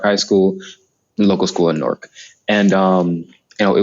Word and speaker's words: Newark: in downtown norc uh norc New Jersey we pronounce it norc you might have heard it as new Yark um I Chang I changed my I don't I don't call it New York it's Newark I mean after spending some time there breakout